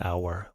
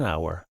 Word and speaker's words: hour: Yuki will come in a or an hour. What do you think? It's pronounced, it's spelled with a consonant, but it's a silent H, which means we pronounce it with a vowel, so we have to